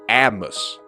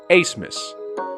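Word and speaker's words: Abmas: four max a smith i initially thought that it was pronounced atmos but after doing some research google told me that it was actually pronounced as max asmus though i may have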